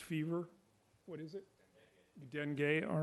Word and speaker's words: Dengue: what is it you done gay all right that's the French pronunciation right okay and two